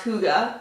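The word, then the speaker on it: hygge: the little book of hike of birds actually pronounced Hooda according to the book by Mick Ricky I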